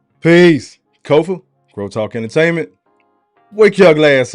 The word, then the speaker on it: Kofa: Once again, I am your humble host, Kofa, K-O-F-A. Not coffee, not kufu, not Kofi, or any variation thereof. Kofa rhymes with sofa.